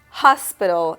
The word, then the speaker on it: hospital: Hospital in Spanish is hospital. So once again, the letter H in Spanish is mute. So you will say hospital, hospital.